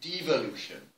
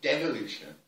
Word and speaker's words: devolution: Wales and Scotland that we tend to say devolution which rhymes with evolution. You tend to say devolution which rhymes with revolution.